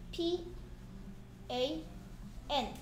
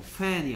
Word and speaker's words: pan: pan이니까 쓰는 방법이 p a n. 그렇죠. fan이 아니야. pan 해야 돼. pan.